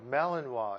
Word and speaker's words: Malinois: here a year old neutered male Belgian as pronunciation is Malinois yeah NIC's beautiful dog just a gorgeous dog